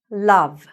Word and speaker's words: love: Love. Don't get confused by the O. Don't say love. No. Love. So it sounds like this.